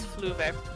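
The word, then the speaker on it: Fleuve: No, if you want a proper pronunciation of his name, it's Fluve. Fluger? Fluve. Fluver.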